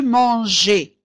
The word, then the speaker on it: mangeais: Alors pour manger je dirais je mangeais je mangeais وأجد ES لا أكتب je mangeais GAIS لأن في هذه الحالة سأنطقها je mangeais alors أقول je mangeais بإضافة الE tu mangeais il, elle,